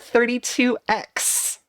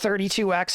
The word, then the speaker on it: 32X: how you say it because it's a 32-bit console it's like saying that nintendo 64 is the nintendo 6-4